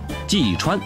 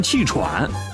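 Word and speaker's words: 季川: 季川呢，这英文拼音太难念了，季川老是被念成气喘，像气喘一样，所以呢我现在署名叫做 Leo。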